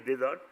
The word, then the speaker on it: désordre: But in French, désordre, the pronunciation is désordre, it's only object disorder, not mental.